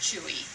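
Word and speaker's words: Chouxie: Well, Chewy, we thought, was C-H-U-O-U-I, just pronounced Chewy. C-H-E-W-E-Y, but in fact it's something much more, what is it, Herb? It's C-H-O-U-X-I-E, like pot of shoe.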